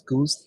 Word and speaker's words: GOOS: to be W or those two flags are pronounced as goose and uh gork and then you build